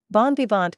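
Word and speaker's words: bon vivant: of Tipsy merry makers Bon bant comes straight from French where it means literally good liver and is still pronounced in the French way though we've actually been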